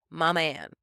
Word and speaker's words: Mammann: Daniel figured a perfect name for the girls to call his mother, Mama Ann, and that's spelled Mammann. Mama is combined with her name Ann.